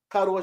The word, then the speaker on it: Kwadwo: His first name is spelled Kwadwo Sheldon. Kadwa Sheldon.